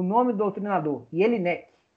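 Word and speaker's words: Jellinek: Agora eu vou falar o nome do doutrinador, Jelinek, ou, se você quiser ler como se escreve, né, Jelinek.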